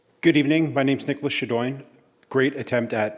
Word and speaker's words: Shadowen: Next, um, Nicholas Shaduan. Good evening. My name's Nicholas Shadine. Great attempt at pronouncing a very difficult last name.